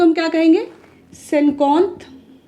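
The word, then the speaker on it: cinquante: जिसे हम कहते हैं सेनकोंथ। स्पेलिंग जरूर ध्यान दीजिएगा क्योंकि इनकी स्पेलिंग से ही प्रोनाउंसिएशन होता है इनका। जैसे IN होता है ना, इसको हम ओ पढ़ते हैं तो सेनकोंथ हो जाता है, सेनकोंथ हो जाता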